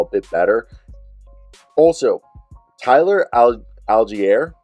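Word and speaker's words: Allgeier: moved the ball a bit better also Tyler algiere right is how you say his name thousand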